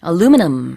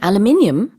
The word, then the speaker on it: aluminum: 제가 이제 미국 친구가 aluminum 이렇게 말하길래 You mean aluminium?